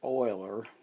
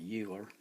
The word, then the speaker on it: Euler: column a math teacher I had in college pronounced it Oiler and if you look it up they'll tell